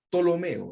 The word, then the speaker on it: Ptolomeo: un nombre bonito verdad se escribe con p p tolomeo verdad tolomeo verdad segundo Filadelfia así